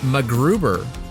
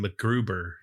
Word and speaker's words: MacGruber: You didn't pronounce the C in MacGruber. MacGruber? MacGruber? MacGruber? MacGruber? How do they all say call it? him MacGruber. They don't say the C is silent.